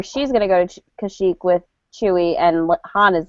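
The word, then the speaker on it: Kashyyyk: say his planet name it's a shock to Chic there you go I always want to say it like with a different ending for whatever reason so they're gonna go to kashik or she's going to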